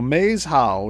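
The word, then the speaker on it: Maeshowe: So Maze How is two words, and it's spelled M-A-E-S and then H-O-W-E.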